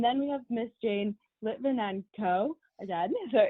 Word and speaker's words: Lytvynenko: And today we're blessed to have both Miss Sharon Currie and I might say your name wrong, Miss Jane Lytvynenko. Lytvynenko, is that correct?